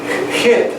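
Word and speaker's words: jit: And J-I-T, hit, doesn't do so exactly, because the J sounds like the German or Hebrew CH, right? Hit. But it's better than a silent H would be, because then the word would be it.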